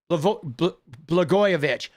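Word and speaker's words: Blagojevich: Blgoyovich.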